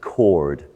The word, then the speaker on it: coward: for not doing anything in original pronunciation the word coward is pronounced cord cord and it really